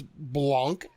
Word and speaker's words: Blanc: It's Blanc, B-L-A-N-C. Blanc. Right?